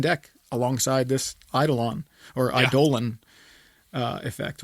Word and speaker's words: Eidolon: alongside this Eidolon or idolan effect which I thought it was pronounced idle on but I saw it is apparently pronounced I Dolan I will never pronounce